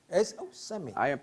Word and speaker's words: Seme: S-E-M-E. Seme. I pronounce it Seme.